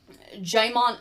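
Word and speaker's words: Djimon: one of the ravagers jaimon jaimon hansu so we said this wrong there is no d pronounceable in that no i know there's no d in there i told you as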